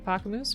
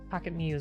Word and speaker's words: Pocket Muse: if you're not following pocket moves please do another wonderful streamer whoops pocket muse i'm sorry not moose i mispronounced things a